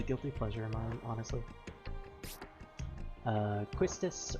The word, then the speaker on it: Quistis: pleasure mom honestly uh questus or quistis as i like to pronounce her even though it's wrong but i still pronounce it that way selfie who i